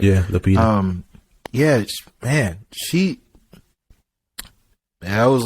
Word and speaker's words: Lupita: Yeah, Lupita.